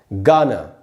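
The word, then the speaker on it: Ghana: इसीलिए दोस्तों इसका करेक्ट प्रोनाउंसिएशन होगा, यहाँ जी से ग ही होगा, ये होगा गाना, गाना, न कि घाना।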